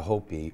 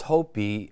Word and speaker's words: Hopi: Nobody ever paid attention to the word Hopi, just Hopi, okay? Nobody knew it's Hopi. And Hopi, the Ho means tiger. The P, okay, which is interesting because the I is pronounced as an E.